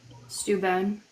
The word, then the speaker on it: Steuben: Baron I von totally Steuben. Right? Baron von Steuben. We always were talking about Steuben. Wait, what about him? I zoned. How do you say his name? Steuben.